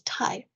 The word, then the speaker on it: 大: the form and the sound so when it's pronounced as tai it's actually got a superlative meaning so it's